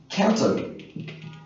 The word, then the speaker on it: Guangdong: this is a uh we have in English a variant pronunciation of Guangdong we say Canton Guangdong Canton almost the same sound so that's uh maybe